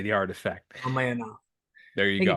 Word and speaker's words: Ramayana: Ramayana. There I you think go. it's I say I've always pronounced it Ramayana, but I think because it's an Indian word.